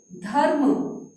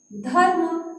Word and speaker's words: धर्म: अब देखो बच्चों इसको हम कैसे पढ़ेंगे, धर्म। कैसे पढ़ा, धर्म। देखो धर्म है ना, तो र का उच्चारण बिल्कुल कम समय के लिए हो रहा है।